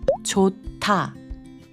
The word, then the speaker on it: 좋다: Maybe you've seen the word 좋다, which means good, but when you actually hear Koreans say it, it sounds like 좋다.